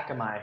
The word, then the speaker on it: Akamai: Akamai, is that how it's pronounced? Yeah, Akamai.